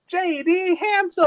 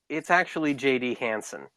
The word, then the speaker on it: Hansen: Please welcome J.D. Hansel. Hello, it's actually J.D. Hansen. Oh, I've been saying it wrong all this time.